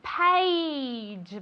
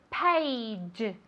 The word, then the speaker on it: page: Very good, page. Vale, esto es difícil de pronunciar. Se escribe con una A, pero se pronuncia como si fuera E-I. ¿Vale? Page, page.